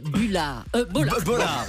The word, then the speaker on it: Bollard: En plus elle veut qu'on dise Bollard. Bollard. Ça se prononce Bollard.